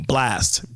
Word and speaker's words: Blxst: Blast.